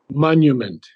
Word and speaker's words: monument: Monument. Monument. You Mo, say you mon, say monument. You say monument. okay, monument. Monument. Yes, Monument. Yeah, the U has to be pronounced.